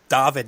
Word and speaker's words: David: born in sweden so in sweden the way you pronounce david is david and uh you know so they it's essentially just the same name but then when we moved to australia they kept it as david pronunciation rather than the english david